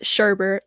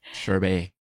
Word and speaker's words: Sherbet: Orange is Sherbert, like or Sherbet, or however you want to pronounce it. Sherbet. Sherbet. That's what I'm gonna call it from now on.